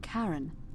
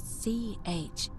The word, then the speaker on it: Charon: The name you heard wasn't Karen. It was C-H-A-R-O-N, as in Charon, the ferryman of the dead.